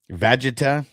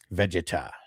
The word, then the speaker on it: Vegeta: I don't know if you know how to pronounce the name. Okay, so it's Vegeta.